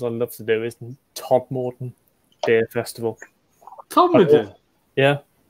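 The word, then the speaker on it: Todmorden: Weirdly, one of the festivals I love to do is Todd Morden Beer Festival. Todd Morden? Yeah. Todd Morden.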